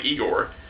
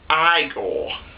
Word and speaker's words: Igor: eigor he he became like eigor actually it's pronounced iore and like Barnabas tried